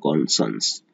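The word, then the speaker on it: conscience: एस, इतना पढ़ेंगे शश, और यहाँ पे साइंस का जो स्पेलिंग है वही लिखा हुआ है साइंस, लेकिन इसे साइंस नहीं पढ़ेंगे, इसे पढ़ेंगे सन्स, इसे पढ़ेंगे सन्स। तो पहला हो जाएगा कॉन्सस, दूसरा होगा कॉन्सन्स, और फिर तीसरा कौशस,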